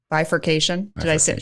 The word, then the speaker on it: bifurcation: Bifurcation.